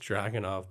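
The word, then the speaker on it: Dragunov: It's pronounced Dragonov, bud. Or yeah.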